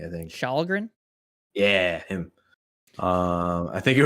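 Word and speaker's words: Källgren: Starts with a K, but you don't pronounce the K. I think Shalgren.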